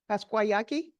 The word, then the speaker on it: Pascua Yaqui: Now I'm hoping I'm going to pronounce the tribe's name, Pascuayaki. Did I say that right? Where are you? Is that okay? Close enough? Tell me. Pasquayaki?